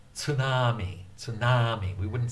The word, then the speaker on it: tsunami: In fact, most Americans, instead of saying tsunami, they'll say tsunami. They'll say tsunami. but it's actually tsunami, tsunami, tsunami, tsunami. The Japanese pronunciation is generally pretty flat.